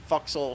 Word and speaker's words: forecastle: castle room the forel foxel sure yeah it's it's spelled Forecastle but it's actually pronounced yeah I know I